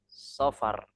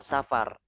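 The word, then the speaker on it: صفر: Bukan safar. Bukan safar. Kalau safar itu tulisannya ya. tulisan tulisan sudah jadi latin ataupun bahasa Indonesia itu safar memang tapi kalau versi arabnya itu safar pakai shad ya kalau safar nanti khawatirnya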